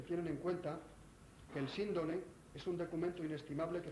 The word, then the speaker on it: síndone: Es decir, la fonética, según Antonio Rivera, veraz, correcta de la palabra es Síndone, no Sindone.